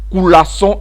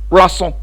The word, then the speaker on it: coulasson: Certains vont dire coulasson en prononçant bien, d'autres vont dire poisson.